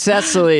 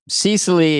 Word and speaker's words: Cecily: No, it's Cesaly is very hip. Cecily is like works at a mall or something.